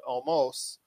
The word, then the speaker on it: Omos: Up next was AJ Styles and Omos, even though it's spelled Omos. It's Omos.